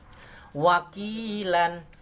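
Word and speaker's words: وَكِيلًا: Wakilan jadi wakila. Itu kalau wakof, kalau berhenti namanya mat iwat, dibacanya panjang satu alif atau dua harokat.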